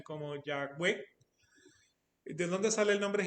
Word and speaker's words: Yahweh: O sea, como no tiene vocales, pues, o sea, los judíos la pronuncian como Yahweh, que generalmente se traduce a Señor.